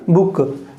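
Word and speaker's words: book: बुक, बुक नहीं है ना, बुक। तो क्या हो जाएगा, B U और K, बुक।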